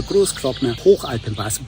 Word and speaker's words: Großglockner Hochalpenpass: It's just, of course, my German background comes in handy so I can pronounce it in the original German way. So again, so the Großglockner Hochalpenpass, bottom line, a really